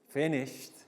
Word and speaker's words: finished: we think really finished finished is like t sometimes it's hard to tell the difference between the final d and the final t sound but if it's pronounced correctly it will be finished okay so can you